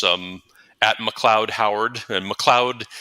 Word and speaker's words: McLeod: um McLoud Howard and McLoud is MCL EOD D which often people spell it phonetically and not that way um and so I'm